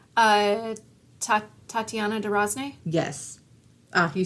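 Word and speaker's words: Tatiana de Rosnay: Uh, Tat Tatiana D. Rozn.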